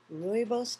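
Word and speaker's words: rooibos: in it have some chamomile tea or some ruos tea that's spelled r o o i b oos it's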